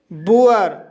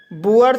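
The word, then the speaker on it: boor: और तीसरा रूल है, जब किसी शब्द में डबल ओ के बाद आर दिया हो तब डबल ओ का उच्चारण ऊ आ किया जाएगा। जैसे बुअर, बुअर शब्द में डबल ओ के बाद आर आया है, इसलिए डबल ओ का उच्चारण ऊ आ हुआ है, इसलिए इसे बुअर पढ़ा जाता है।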